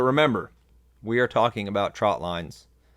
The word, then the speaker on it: trotline: and your message so as you're talking about trotline's share that message that it's a trotline this is a trotline that we're setting today